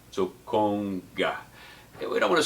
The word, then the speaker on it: conga: I tell folks is pretend you're saying ice cream cone and then add a ga to the end of it so cone guy we don't want to say conga or conga these are mispronunciations of